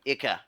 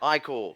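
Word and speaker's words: ichor: Yeah, but as we're running now, Icor, blood, Ika? Ica, You're gonna let him get away with that? Icor. That was two incorrect pronunciations.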